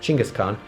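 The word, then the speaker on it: Genghis Khan: the form of the Mongol Army in fact genghiskhan actually pronounced chingas Khan founder and great ruler of the Mongol Empire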